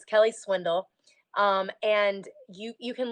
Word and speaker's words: Swindall: ey there and then Swindle is not even though it's pronounced you know like like swindling someone that's not how it's